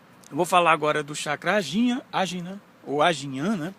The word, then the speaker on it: Ajna: Então, eu vou falar agora do chakra Ajna, ou Ajnan, né? Pode ser pronunciado Ajnan em sânscrito.